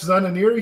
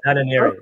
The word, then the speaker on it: Zananiri: I am super excited to have Zananiri here today. I hope I said your last name correctly there. Excellent pronunciation. Is that right? Or how would you say it? Zananiri? Exactly. Zananiri. Zananiri, yeah. Okay, cool.